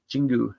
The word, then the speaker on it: Jingu: I say Jinju, but I think it's Jingu Stadium. I was talking to a couple of Japanese folks here. I may be mispronouncing the stadium name. Jingu is the proper pronunciation, it sounds.